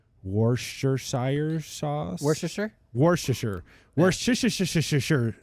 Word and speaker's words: Worcestershire: name Worcestershire sauce Worcestershire Worcestershire sauce don't enunciate and you'll say it right yeah we're Shard yeah